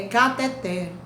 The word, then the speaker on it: cateter: pessoa pronunciando o cateter cateter é uma palavra oxítona quando é que uma palavra é oxítona quando a sílaba tônica da palavra é a última então não existe cateter é cateté mas as pessoas pronunciam